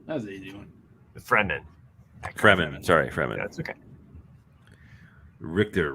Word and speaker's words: Fremen: Eckhart Freeman. That was an easy one. Fremen.